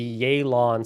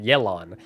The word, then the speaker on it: Yelan: we are going to be checking out the yay lawn story quest i finally actually pronounced figuring out how to pronounce it i was pronouncing it yellow on before the actual uh release of her so